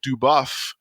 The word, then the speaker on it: DuBoff: the uprise saga with amy duboff i think that's how you pronounce her name um duvaf yeah metamorphosis alpha stories